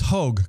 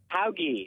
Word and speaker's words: Hauge: Hogue, correct? Hauge. Hauge. Oh my gosh. Name, Ed. Yes. Why can't I get that right? It's German.